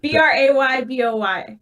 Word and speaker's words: Brayboy: Thank you, Spell it one more Paul. time: Braybow. B Brayboy. boy, Brayboy, What did I say? B now B-O-Y, B-R-A-Y-B-O-Y, there you go.